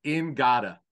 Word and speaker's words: Ngata: They said, no, it's Ingata, not Ngata.